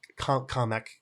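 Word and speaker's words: Kamek: And that's like Toad, Yoshi, Berto, KK or Kameck as I have learned that his name is properly pronounced by the movies.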